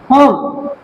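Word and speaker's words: home: হোম, ম আসছে, ই silent. Use, ই silent, ইউজে ইউজ, ই আসছে না, সাইলেন্ট।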